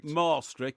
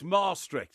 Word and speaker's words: Maastricht: Well, it's pronounced Maastricht because it's two A's in the middle. It's Maastricht, there's two A's in the middle. Maastricht.